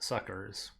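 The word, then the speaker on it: succours: were saying s-u-c-c-o-u-r-s which means helps it's pronounced suckers hear an animal again over a new i'm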